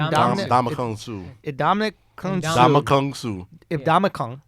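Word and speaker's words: Suh: Damakung Damakung Su. If Damakung. The end is silent. Oh, so it's Damakung Su.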